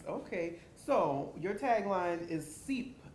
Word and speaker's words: CEEP: So your tagline is CEEP, as in seep into a world of possibilities. Explain that to us. Okay, so it is definitely a play on words because CEEP is spelled S-E-E-P.